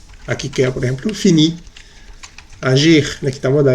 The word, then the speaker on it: agir: Agir, muy bien. Choisir, très bien. Se pronuncia bien la R al final, ¿listo? Porque no es ER, sino IR. Ir, finir, agir, choisir.